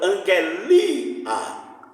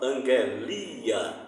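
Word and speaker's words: ἀγγελία: Então, angelia. Observe que em angelos, o acento sai da proparoxítona, e em angelia vai para a paroxítona. Aí ela muda a pronúncia de conformidade com o acento, isso é prosódia.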